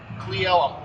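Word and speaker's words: Cle Elum: Cleellum. Cleellum. All right. Cuz I'm looking at on a map and I'm like, "How the heck do I say that?" Clem.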